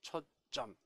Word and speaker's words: 초점: 자, 발음은 시옷이 있는 것처럼 들리죠. 초점. 그러나 이 둘 다 한자죠. 그러면 사이 시옷이 들어갈 수가 없다. 따라서 표기는 그냥 초점. 예, 그렇게 쓰시고 읽을 때는 초점이라고 했죠.